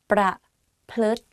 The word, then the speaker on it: ประพฤติ: pronouncing this is ทฤษฎี ประพฤติ behave ประพฤติ behave let's practice again ประพฤติ ประ and then พฤติ like L sound within the word so it's like ประพฤติรุนแรง